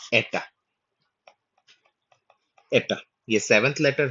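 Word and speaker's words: ἦτα: यह जो हिंदी में उच्चारण होता है, यह बेसिकली एटा का उच्चारण है।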